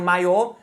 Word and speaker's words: maiô: Por exemplo, maio é o mês, maio é a roupa do trage de piscina, de banho da das mulheres, né? Então, maio maiô. Na escrita tem a diferença do acento e aí muda o significado.